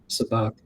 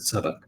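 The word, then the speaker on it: sabacc: To be honest, probably for most of the game, sabak or is it sabak? I think it's pronounced both ways.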